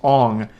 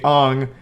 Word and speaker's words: Aang: And everyone already knows this, but his name's not Aang in the movie, it's Ong.